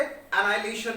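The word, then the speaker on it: annihilation: एनाहिलेशन, बल्कि हम इसमें एच प्रोनाउंस नहीं करते, एनाहिलेशन बोलते हैं।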